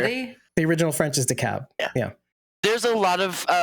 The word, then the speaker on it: DeKalb: Like DeKalb is decalb.